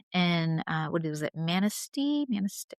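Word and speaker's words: Manistee: Manasty. Manasty. How do you say? Yeah. Manaste, Michigan.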